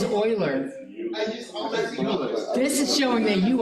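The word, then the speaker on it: Euler: an exponent look up Oilers equation that's how you say the name Oiler it is not uler it is Oiler this is showing that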